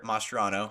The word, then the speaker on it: Mascherano: Javier Mascherano. Now tell me if I'm pronouncing that right.